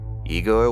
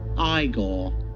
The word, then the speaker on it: Igor: has a trusty henchman in Fritz Paul and Igor was it now it's pronounced iore to Aid in his experiments but mostly to